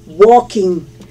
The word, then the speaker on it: walking: a nileen estoy comiendo walking estoy caminando no se pronuncia la l la l no se pronuncia i'm looking walking i'm dancing estoy bailando